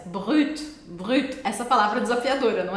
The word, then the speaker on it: Brut: Aliás, já aproveita para você também treinar a pronúncia. Brut.